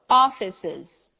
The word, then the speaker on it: offices: office office and then when it becomes a Perot offices the three syllables are very out there you know you can't just ignore the last one and say us or ignore the second one and say office I don't know how would that would go but you have to take the three so one word into